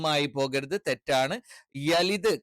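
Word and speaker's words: يلد: ലം ആയി പോകരുത് തെറ്റാണ് യലിദ് കറക്റ്റ് പറയണം എ ആയി പോകാൻ പാടില്ല അത്തരത്തിലുള്ള ഉച്ചാരണങ്ങൾ അറബിയിൽ ഇല്ല വലം എഗൈൻ എന്താണ് വലം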